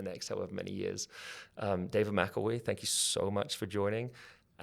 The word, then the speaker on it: David McElwee: Well, I have got your name wrong the whole time. David Mcelwee.